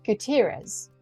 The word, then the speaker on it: Gutierrez: Heroes welcome I am here today with Gutierrez welcome thank you for joining me and have I pronounced your surname correctly thank you for having